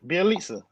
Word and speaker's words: Bjelica: Bjelica. There you go. My phone was fucking up, so I didn't know if y'all heard me. So yeah, we got Bjelica, and we end up giving up Mo Harkless and Chris Silva.